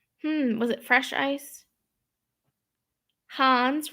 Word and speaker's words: Hans: was it fresh ice hans rhymes with john's i know sometimes i say hans sometimes i say hands it's my new york accent hans like from um